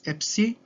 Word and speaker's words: Epsi: The last letter we have for today is Epsi. Again, you don't have to know its pronunciation, but it sounds like ps.